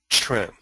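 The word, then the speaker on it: quan: and that is the word Tren. It's a funny sounding word, Tren. And in the Mandarin, it's spelled in Roman letters, Q-U-A-N.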